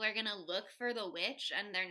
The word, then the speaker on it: The VVitch: my all-time favorite films, The Witch from 2015. Also known as The Vitch, if you are pronouncing it that way, which is not correct, but that's how I like to say it sometimes. That's how it feels in my heart, frankly.